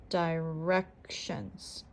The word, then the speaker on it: directions: are very similar direcciones directions has 3 syllables die wreck shunts can you tell where the syllable stress is directions directions the second syllable is stressed next we have library